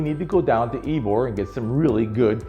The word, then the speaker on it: Ybor: When you're in town, you really need to go down to Ebor and get some really good Cuban food. By the way, don't show your newness to Tampa. Ebor is pronounced Ebor, not Ybor.